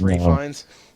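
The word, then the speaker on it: Ralph Fiennes: yeah you didn't know that Ralph fines is pronounced Rines there you go now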